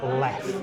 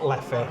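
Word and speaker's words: Leffe: So the lovely chap who's just fetched our drinks out, he's confirmed that you pronounce it Leff, not Leffy.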